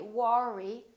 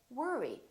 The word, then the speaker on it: worry: I go to work or worry don't say War II say worry don't worry another one is word